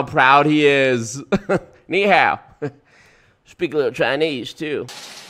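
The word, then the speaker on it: 你好: I knew I needed kneehab two syllables Mr President you got this knee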